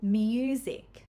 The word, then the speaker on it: music: We usually keep that Y sound as a separate sound. For example, music.